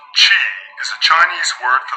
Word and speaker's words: qi: Qi, pronounced Qi, is a Chinese word for the life force energy that flows throughout the body.